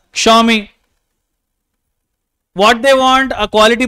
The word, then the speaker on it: Xiaomi: They don't know that the name of a company needs to be pronounced as Xiaomi.